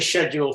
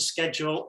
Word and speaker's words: schedule: six um again scheduled schedule um generally if you're listening to the news and television it's scheduled but a lot of people say schedule and I'm old school schedule yeah so yeah I'm